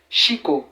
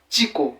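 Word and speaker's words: chico: dira icioiko tiiko h lorsque les élèves VT les difficultés ils ont tout tendance à dire Chiko Chiko Chiko mais c'est pas Chiko mais c'est plutôt tiiko qui veut dire garçon tiiko tiiko vous voyez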